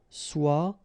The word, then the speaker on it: soit: Okay, so as usual, good news is that soit, and then soit here. You write them differently, but then you pronounce them the same way.